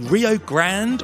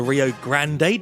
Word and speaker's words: Rio Grande: The Rio Grande, or the Rio Grande, depending on how you pronounce it, forms the border between Texas and Mexico.